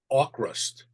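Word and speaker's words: Avkrust: I believe it's pronounced Aukrust. Aukrust? Aukrust. I think the V. Yeah, I think the V is supposed to be pronounced like a U.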